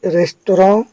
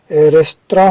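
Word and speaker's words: restaurant: Allows रेस्टोरेंट, इसका उच्चारण हिंदी में रेस्तरां होता है। अब आप जो पढ़ते हो पर ये सही उच्चारण रेस्तरां है।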